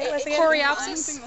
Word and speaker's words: Coreopsis: How you pronounce it? What did you say it was again? Coreopsis. Coreopsis.